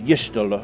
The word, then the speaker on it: Y'shtola: I swear, I keep hearing different pronunciations for Y'shtola, so it's Y'shtola, okay.